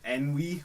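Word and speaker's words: ennui: I can't pronounce it n we n we is that what it is yeah yeah I I can't pronounce that I didn't even know that was a word until I watched the movie to be honest but yeah it's like French I guess for French bedom they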